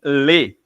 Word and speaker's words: les: O plural em francês é somente lê.